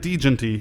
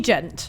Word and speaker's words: Djent: No one likes a silent D.